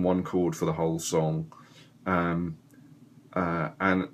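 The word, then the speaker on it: Sunn O))): that I like so there's a band called sun with two n's and then there's an O and then there's close bracket close bracket close bracket which apparently you don't ever pronounce so you just say son uh they have um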